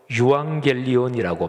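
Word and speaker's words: εὐαγγέλιον: 복음, 이거를 헬라어로 유앙겔리온이라고 발음하는데요.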